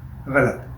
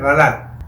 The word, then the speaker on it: غلط: کو سیکھ رہے ہیں۔ جیسے لفظ ابھی میں نے کہا غلط، جبکہ لفظ ہے غلط، تو اس طرح چھوٹی چھوٹی چیزیں، غین کے اوپر بھی زبر ہے، لام کے اوپر بھی